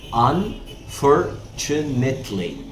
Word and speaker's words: Unfortunately: وركز معايا في نطق Unfortunately. تي مع اليو كده تش.